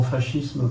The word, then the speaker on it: fascisme: On prononce souvent fascisme parce que comme voilà, on estime que c'est un peu une importation italienne, on a tendance à récupérer la prononciation italienne.